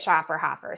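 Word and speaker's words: Schöfferhofer: you say it liz shaw for however you know the grapefruit beer that they sell in epcot oh okay i think you say it shaw for hoffer so um this is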